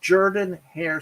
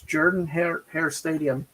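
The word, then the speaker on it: Jordan-Hare: is that is pronounced jordan hare stadium i don't know how why an o is pronounced like a u but it's jordan hare in auburn alabama uh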